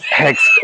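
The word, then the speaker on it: Hoechst: रखा हुआ था ये, जिसपे लिखा था वी प्रोनाउंस इट HEXT, हेक्स्ट। जी जी, तब से मुझे याद था कि हेक्स्ट कहते हैं।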